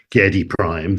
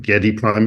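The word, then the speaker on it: Giedi Prime: the Bible was that if Frank Herbert said Getty Prime then Getty Prime is how it was but Chie there's about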